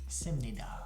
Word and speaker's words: 습니다: It's spelled different than it's Yeah. pronounced. it's spelled 습니다. So hard to say 습니다. So it softens 씁니다.